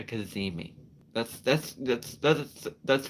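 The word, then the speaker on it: cazimi: interesting word um and the word is it's spelled c-a-c-i-m-i it's called a kazimi that's that's that's that's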